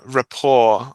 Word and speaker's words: rapport: one for us um Rapport I would say Rapport you don't pronounce t this is one of these borrowings from French because it's the T here is not pronounced you see R but